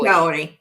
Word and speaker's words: Kaory: seen your beautiful face tell us who is Ki I'm I'm pronouncing your name correctly yes K Ki KI who's who was Ki growing